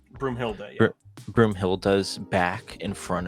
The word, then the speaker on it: Broomhilda: And then when he shows Brumilda, is that how you say her name? Broomhilda, yeah.